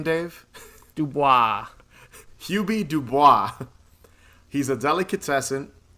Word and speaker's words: Dubois: How do you pronounce his last name, Dave? Dubois.